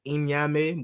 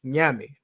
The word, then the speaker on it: Nyame: Some people like to pronounce it Inyame, but it's Nyame.